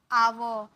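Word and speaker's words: our: बोलते हैं इसे हम बोलते हैं आवर आवर लास्ट वाला र ना आधा सिर्फ आवर आवर का मतलब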